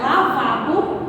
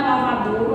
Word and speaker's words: lavabo: O lavabo, realmente ele é pronunciado lavabo, certo? Não é lavadouro, é lavabo.